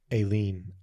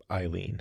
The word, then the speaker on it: Eileen: I remember reading a book, and I kept saying the name Aileen, Aileen, and my mom corrected me. That's Eileen.